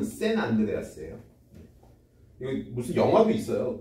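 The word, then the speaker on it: San Andreas: 이제 하여튼 뭐 그래서 요걸 아 산 안드레아스라고 써 놓긴 했는데 사실 발음은 샌 안드레아스예요.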